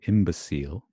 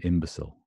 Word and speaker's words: imbecile: imbecille and that's how I would say imbecille and Americans would probably say imbecile imbecile imbecile so striking